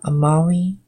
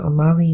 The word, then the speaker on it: amavi: Amavi, usually the V in Latin is pronounced with a, I believe it's like a W sound, if I'm not mistaken.